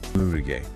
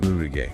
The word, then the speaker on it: 無理ゲー: First up is Murige.